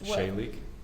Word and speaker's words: Shalig: Shalig. Shalig? Shalig. How do you spell it? Sheilig. It's a Hebrew word.